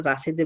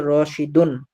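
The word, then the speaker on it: رَاشِدٌ: বিসমিল্লাহ হইলো না ঠিক আমরা বাংলাতে কাউকে ডাকলে তো আমরা রাশেদে বলি কিন্তু আরবিতে পড়ার সময় আরবি উচ্চারণটা সঠিক ভাবে করতে হবে এজন্য বলতে হবে রশিদুন তাহলে রশিদুন তিলমিদুজুন রাশেদ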